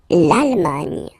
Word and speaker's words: Allemagne: L'Allemagne. L'Allemagne. Nya. Remember this G and E, it can be quite tricky at the beginning to produce, the sound Nya, okay?